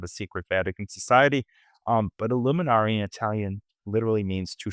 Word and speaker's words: illuminare: Italian citizen, and the word illuminaire, it's actually pronounced illuminare, but when I say that, people think I'm part of a secret Vatican society. But illuminare in Italian literally means to shed light.